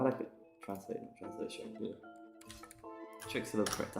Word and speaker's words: Chicxulub: of my branding, but what's it called, the Chicxulub crater. I need to learn to spell it as well.